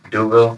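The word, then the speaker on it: D'Youville: about your new school, and I'm afraid to mispronounce it. So tell me how we say the name of your university. Uh Duville University. Say it again. Duville.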